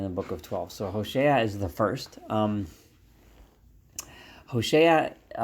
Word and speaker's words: Hosea: the book of Hosea I'm going to call him HOSA as he is pronounced in Hebrew HOV shinan and Hosea or HOSA is the